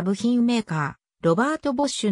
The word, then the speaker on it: Robert: は英語表記でドイツ語の発音ではロベルトまたはロベと表記する方がより正確であるが日本におい